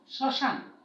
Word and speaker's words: শ্মশান: শব্দ উচ্চারণ দেখো, শ্মশান। হ্যাঁ, তালবস্যের সঙ্গে যে ম, এটার উচ্চারণ হচ্ছে না। আর ম যখন অনুচ্চারিত থাকে তখন কিন্তু সেই শব্দটির উচ্চারণ সানুনাসিক হয়।